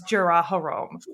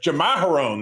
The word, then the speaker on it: Jamaharon: everybody thinks he wants Jaraharom. So this lady, yes, you know what? I was just going to correct your pronunciation, but Jamaharon, that's it.